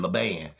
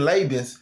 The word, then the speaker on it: Laban: It's pronounced Laban, but I've been saying Laban. It's Laban. I mean, it looked like Laban, but it's pronounced Laban.